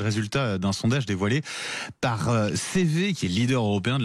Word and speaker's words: CEWE: CV, ça s'écrit C-E-W-E.